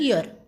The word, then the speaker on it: year: और एन लगना चाहिए, लेकिन एक्चुअल में इसका साउंड हुआ वाई का साउंड यहाँ पे य है, और इसका एक्चुअल प्रोनाउंसिएशन है ईयर।